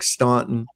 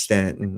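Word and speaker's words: Staunton: It's uh it looks like Stuntton. S T A U N T O N. Uh but it's actually pronounced Stanton.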